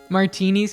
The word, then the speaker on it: Martine: I have a friend with the last name Martini but it's m a r t i n